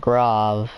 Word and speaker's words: Grav: the first thing but grav is how you say it even though it has an a the one that